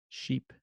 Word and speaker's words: sheep: vowels is too quickly sheep sheep sheep sheep because Japanese phonology doesn't have the distinction between ship and sheep but British English decile